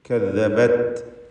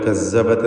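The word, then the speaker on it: كذبت: കദ്ദബത്, ദാലിൻ്റെ ഉച്ചാരണം ശ്രദ്ധിക്കണം. ദസ്സ പോലെ കസ്സബത്ത് എന്നായി പോയത്. കാഫ്, താ ഇതൊക്കെ മഹ്മൂസും ഷദീദുമായ ഹാർഫുകളാണ്. കദ്ദബത്, കദ്ദബത്. താൻ്റെ സുക്കൂൻ ശ്രദ്ധിക്കുക. ത് എന്ന ശബ്ദം ചലിക്കുകയോ എന്നാൽ തീരെ കേൾക്കാതെ കദ്ദബത് എന്ന് മാത്രം പറയുകയോ ചെയ്യരുത്.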